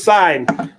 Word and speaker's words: sine: names first one is sign the sign and here's how you pronounce it to let me write that the sign we abbreviate it's sin but it's pronounced sign the sign of angle